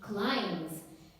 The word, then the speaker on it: climbs: climb, which will become climbs. In the moment when an action is being performed in that moment, we add ing, climbing. Then in the past, climbed. climbs. Climbs. B is silent.